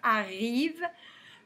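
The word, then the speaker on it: arrivent: comme ils sont deux à la fin du verbeau mais ent mais on le prononce pas s'ils sont ces du pluriel donc on va mettre le nt on va dire arrive dans le séjour joyeux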